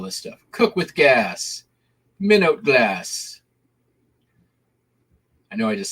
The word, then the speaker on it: Minot: I'm good at pronouncing things. Of course, it's Minot.